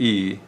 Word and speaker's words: y: The Y there, pronounced E, means and in Spanish.